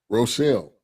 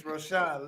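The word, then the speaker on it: Rochon: Roselle. There's no L's in it. I know. It ain't no L. It's Rosha.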